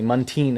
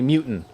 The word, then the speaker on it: Munteen: This one drill instructor who never called me by my last name correctly, Munteen is how you Yeah, pronounce it. yeah. He used to call me Mutant.